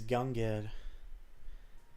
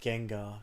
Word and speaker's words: Gengar: Well, actually, it's just pronounced Gengar cuz the name of the Well, Gengar's name is based off of his double Ganger, but it's just Gengar. His name is just pronounced Gengar, actually.